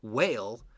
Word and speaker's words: whale: a very good example whale of the silent e making the a long okay so whale whale wh al e with two silent letters whale and this I